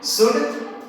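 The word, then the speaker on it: should: इस तरह से याद रखना है कि हमें इन सब शब्दों में कभी भी एल का प्रोनाउंसिएशन हम नहीं करेंगे। काम, palm, palmist, कुड, वुड, शुड, Chowk, talk, Fock, calf, behalf, better half.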